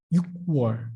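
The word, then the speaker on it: 유월: 6월. It's hard to pronounce it, isn't it? So the Korean government just decided to speak with 6월 because it's more easy to pronounce it.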